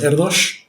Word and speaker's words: Erdős: Que es Erdős. Se escribe Erdős, pero se pronuncia con sh porque es húngaro.